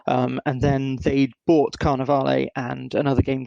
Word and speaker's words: Carnevale: they wanted to do I've been calling it Carnival is it should be should it be Carnaval um I mean don't let me tell you how to say Italian words you know better than I do we we've been told it's Carnaval but carnal okay well